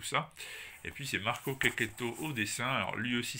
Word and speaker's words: Checchetto: Alors concernant l'accent, je vous assure, hein, ça se prononce bien Checchetto en italien et pas Checchetto ou Dieu sait quoi.